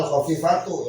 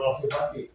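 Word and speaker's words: الخفيفةُ: jadi sifat dari mana dibacanya sebenarnya al-khafifatu ya, al-khafifatu jangan al-khafifati.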